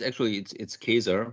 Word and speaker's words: Kaeser: do I pronounce your surname right, Kaeser? It's Kaeser, but I'm used Kaeser, to various and different pronunciations.